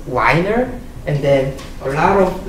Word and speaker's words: Wiener: So I know the correct pronunciation is Wiener, so I'm going to use that.